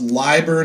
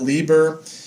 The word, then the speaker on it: Leiber: having to explain that it's pronounced LIBOR not Lieber and correspondingly spelled you know II I not ie and then he said